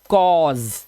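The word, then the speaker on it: cause: इसी तरह से ये हो गया कॉज, और लास्ट का ई साइलेंट।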